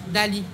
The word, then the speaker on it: Dali: Dali. Ah oui, Dali, comme Léonard, comme Salvador Dali.